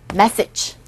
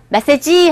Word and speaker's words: message: Message. 이거 발음이요? 메시지 하지 마시고, 첫 번째 강세 있죠? A에.